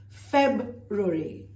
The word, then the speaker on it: February: But is it easy to pronounce? No. February.